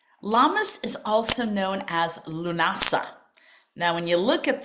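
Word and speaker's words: Lughnasadh: So, Lunasa, I remember the first time I tried to pronounce that um because it's written in the Celtic Gaelic language.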